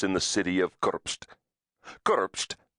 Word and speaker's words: Kurpst: Kurpst, pronounced Kurpst, was the capital of the Republic of